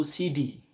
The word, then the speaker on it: Sidi: Ee kalau logat Arab itu CD ya, CD. CD. CD itu artinya sayidi. CD ini bukan CD itu apa nama? Cidi hardis itu nak ya. Ee tapi CD. Sidi itu sayidi.